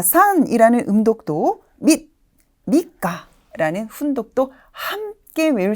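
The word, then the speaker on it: 三日: 밑가, 밑가. 여기에서는 밑이라는 초금으로 발음이 되고 있고요.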